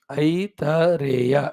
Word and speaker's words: Aitareya: Aitareya, Aitareya. Pronounce it properly. Earlier one is Taitiriya. That is not Taita, it is Taiti. It is not Aiti, it is Aita. So, Aita.